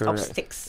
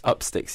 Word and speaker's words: Upstix: And it's Upsticks. Upsticks, yeah. And that's spelled Upstix.